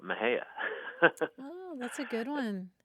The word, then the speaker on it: Mexia: town a Yankee you might be tempted to say Mexia right or some other but towns people call it Maha oh that's a good